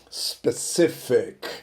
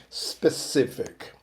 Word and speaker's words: specific: Specific, ok? Specific. The stress is on the middle syllable.